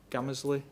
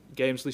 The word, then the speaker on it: Gamesley: site and, I may get this wrong, this pronunciation, and people may want to correct me, but is it Gamesley or Gamersley? Gamesley sidings.